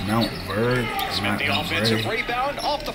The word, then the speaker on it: Montverde: not forget what happen it's so it's it's pronounced Mount bird the offensive rebound off the fly Harris connects